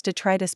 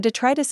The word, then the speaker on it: detritus: For some reason, people often try to accent the first syllable rather than the second.